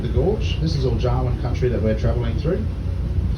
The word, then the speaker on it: Jawoyn: And the name Jawoyn is spelled J-A-W-O-Y-N. Pronounced as if you would say Darwin with a J.